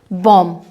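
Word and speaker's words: bomb: यहाँ लिखा है हमने बॉम्ब, यानी कि एम के बाद जब बी आता है तब बी का उच्चारण नहीं होता।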